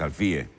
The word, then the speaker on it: Alfie: Yo le digo Alfi, tú le decís Alfie. Él dice que es Alfie. Pero Yo antes tengo era entendido Alfi. que él hizo la aclaración que su nombre se pronunciaba Isaac Alfie.